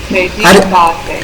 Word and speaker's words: Kreditkarte: Here it is credit. Kreditkarte. Yeah, it is a credit card. Credit card. Okay, you have to emphasize on I.